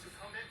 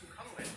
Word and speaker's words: Sukhumvit: This is Sukhumvit. It's actually supposed to be pronounced Sukhumvit, but nobody says it that way.